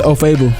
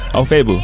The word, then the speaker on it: Ofoegbu: It's Ofoegbu. Ofoegbu? Yeah, G silent. Ofoegbu.